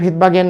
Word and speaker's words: Svedberg: আমরা শিখন ফলে দেখিয়েছিলাম বিজ্ঞানী ভেদবার্গের নামের প্রথম অক্ষর হচ্ছে এস। এসের উচ্চারণটা উজ্জ্ব থাকবে, তার নামটা হবে, উচ্চারণটা পড়তে হবে ভেদবার্গ, কিন্তু এস দিয়ে শুরু করতে হবে।